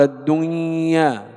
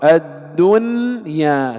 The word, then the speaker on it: الدنيا: يرملون، إذن حرف إدغام، لكن لا ندغم النون في الياء فنقول الدنيا، لا، يجب الإظهار، الدنيا، كما ننطق ينأون، إظهار، ويسمى إظهارا مطلقا.